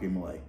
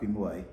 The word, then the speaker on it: de Molay: Um there's a couple of different pronunciations of it. Okay. Because in um in French or France at the time said like DeMolay. Right, he was Jacques DeMolay.